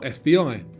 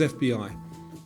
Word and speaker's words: FBI: Radar, Scuba, or FBI? And because it's pronounced as separate letters, the answer is FBI.